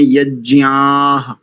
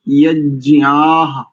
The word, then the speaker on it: यज्ञाः: एक एक स्थान पर देखो, जब आपने यज्ञाः ऐसा एकदम स्पष्ट, ज्ञ यानी मुख नासिका वचनोनुनासिका, इस आधार पर ये सार्वनासिक वर्ण है, और आ के बाद आकार दीर्घ है और आकार के उपरांत विसर्ग है, तो ज्ञ आह यज्ञाः ऐसा बिल्कुल एक एक अक्षर स्पष्टता से।